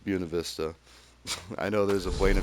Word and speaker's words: Buena Vista: you know mountain towns Buena Vista specifically pronounced Buena Vista I know there's a